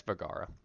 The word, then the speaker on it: Vergara: Knowing her first name is not going to really help me pronounce that. It's Vergara.